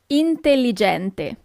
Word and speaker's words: intelligente: Intelligente.